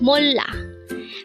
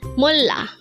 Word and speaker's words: 몰라: 90 mola again it's mola this is pronounced as a two syllable word the first syllable is M second syllable is La pronounce it with me it's mola mola what is the